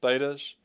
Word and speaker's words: theta: both of them are thetas and they're pronounced with a th sound so write that out